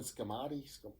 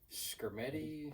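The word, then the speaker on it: Skrmetti: I know I'm gonna pronounce his name wrong, but Jonathan Scammati, the attorney general. Skermetti? Yes.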